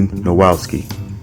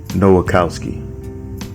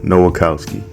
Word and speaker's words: Nowakowski: A good friend of Sonia and sister to Jacob's good friend Jason was Lily Nowowski. Oh, I'm sorry. Nowakowski. Yeah, Nowakowski.